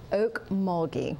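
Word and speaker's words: Okmulgee: members it really is well before we close Oak muli right so spell that for us o a k m u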